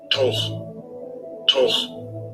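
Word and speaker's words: תֹּךְ: Okay, the pronunciation. Strong's H, 8496. Toch.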